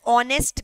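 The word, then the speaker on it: honest: ठीक है, for example ध्यान से सुनना, शी is dash ऑनेस्ट girl, N होगा क्या? श्योर। ऑल्दो आप देखोगे स्पेलिंग ऑनेस्ट का क्या है, एच ओ एन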